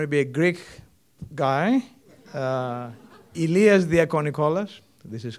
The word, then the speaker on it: Ilias Diakonikolas: Inevitably, there is going to be a Greek guy, Ilias Diakonikolas, this is how you pronounce it, assistant professor in computer science with